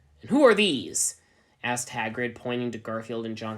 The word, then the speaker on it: Hagrid: you get in here here grid said Ebony it's me don't you remember it's pronounced Hagrid said the giant whatever hahrid don't you